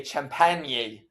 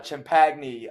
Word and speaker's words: Champagnie: I always say Champagnie, but it's uh Champagny.